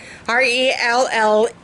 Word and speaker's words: relleno: So, if you have a good recipe for chili relleno, R-E-L-L-E-N-O, yeah, relleno. I know I'm pronouncing it wrong. I'm supposed to roll my R's.